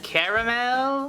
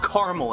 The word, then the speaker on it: Carmel: the top of mount carmel i think it's pronounced caramel no it's mount carmel it's a real place in the middle east